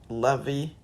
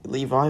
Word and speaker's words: Levi: Kakashi Naruto Itachi um Aaron Levy or pronounced correctly as Levi but I like pronouncing